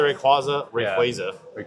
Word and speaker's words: Rayquaza: yeah, but Dragonite, the Rayquaza.